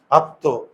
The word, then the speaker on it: আত্ম: হবে কি আত তো আত্ম তাহলে মফল যদি শেষের বর্ণে থাকে তাহলে ওটা দুইবার উচ্চারণ হবে আর দ্বিতীয়যে দুইবার যে উচ্চারণ হয় দ্বিতীয় বর্ণের উপর চন্দ্রবিন্দু দেখতো এটা কি হয়